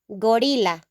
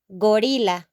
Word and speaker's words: gorila: The only difference is the pronunciation, okay? In Spanish, in the singular form, we're going to say gorila, gorila, gorila.